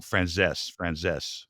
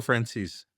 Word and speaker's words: Franzese: Franzese. Michael Franzese.